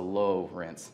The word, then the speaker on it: Lowrance: started the Lawrence Cruisers it's spelled Lawrence but with an O so low rinse just a little a